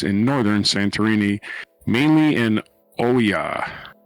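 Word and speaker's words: Oia: Northern santerini mainly in Oya I think it's how it's pronounced o i a Oya no consonants the swarm's location suggest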